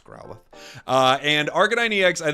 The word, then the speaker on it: Growlithe: thank you for everyone correcting my pronunciation on growlie I found out I was saying that wrong it's Growlithe uh and Arcanine ex